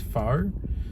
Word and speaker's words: pho: Um, I believe it's really pronounced fur, but it sounds wrong to me. Um, and it's one of those few times I don't want to be eating fur. Um, and they and it's spelled pho, so I'm going with foe.